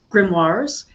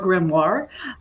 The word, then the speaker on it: grimoire: I landed on grimoire because it just, I don't know, it feels a little snooty when I'm like, oh, grimoire, because, it's based on a French word. I'm not French. Most people here pronounce it with the R sound in it.